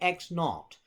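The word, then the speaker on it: x₀: so we're going to call that X sub zero or we pronounce that X naught so X naught is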